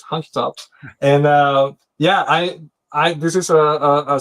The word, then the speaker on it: Hunky Tops: And the way I pronounce it, by the way, is hunky as in as hunky. It's not honky. I'm sorry. It's Hunky Tops.